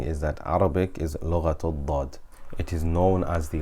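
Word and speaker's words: ضاد: unique to Arabic, and it should not be pronounced as the way we do in general conversation or in Ammiya. Often instead of saying dad, we will say dha or za, bizabt or bilzabt, for example.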